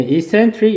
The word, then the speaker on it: eccentric: 예, eccentric 역시 강세 이음절에 있습니다.